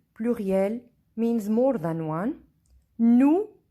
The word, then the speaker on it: nous: Nous means we. S is silent.